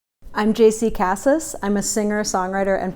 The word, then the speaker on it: JC Cassis: about me is that my name is pronounced jc cassis nobody seems to be able to get that but that's what it is the second thing i